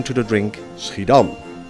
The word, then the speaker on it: Schiedam: name to the drink sridham or as the english pronounce it skidam this relative small town